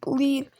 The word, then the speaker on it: Elite: miles north in the town of elite which rhymes with speed on Quinn's block off